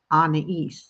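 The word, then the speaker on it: Anaïs: you pronounce it, and it's Anais. So like Anna from Frozen and East, like ES, but it's IS, and you put the 2 dots above the I to make it a long E sound.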